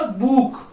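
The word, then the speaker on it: Buch: तो ये क्या हो जाएगा बुक, बुक, बुक मतलब क्या होता है बुक, ठीक है, बुक, बुक, इसका क्या बुक, बुक, बुक मतलब बुक।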